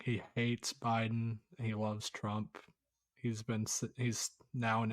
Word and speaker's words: Trump: Trump. What? What's that extra? He puts a D. You're putting a whole syllable at the end of it, too. It's Trump.